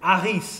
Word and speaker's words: Harris: So I got I got Harris, which of course in French you don't have a you know you don't pronounce the H in French. So it's Aris of it sounds sounds.